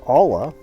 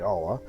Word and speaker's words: olla: Our Olla, or Olla, depending upon how you pronounce it, it's actually Olla, is done.